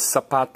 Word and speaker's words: zapato: Now, the word for shoe is zapato. What do you say? Zapato, zapato. In Spanish, every time you see a letter Z, whether it's plaza or diez or whatnot, it's going to be pronounced as an S.